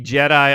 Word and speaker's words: Cedi: So he should be Jedi Osman, like he's from Star Wars.